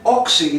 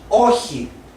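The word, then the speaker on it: όχι: War or here now the president said oxy it's not oxy it's oji and it is the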